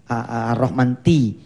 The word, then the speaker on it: Ar-Rahman Tea: Ar-Rahman Ti. Begini saya sebutnya. Kalau di pesantren kurikulumnya namanya Ar-Rahman Tea. Tea kan bacanya Ti ya.